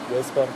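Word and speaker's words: Gaspar: гаспар но и гаспар но ударение гаспар пусть французский и там же все на последний как же типа мишель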